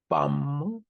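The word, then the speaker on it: Palme d'Or: 처음에는 황금 종려, 빰도르, 빰무도 참 어렵습니다. 불어가 종려나무를 뜻하는 팜이란 말과 금을 의미하는 오르. 음, 이 프랑스에서 알은 이렇게 그렇게 발음을 하죠. 저 가래침 뱉듯이 는 오 이렇게 얘기를 하겠죠.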